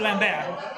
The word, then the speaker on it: Lambert: that's pronounced Christopher Lambert.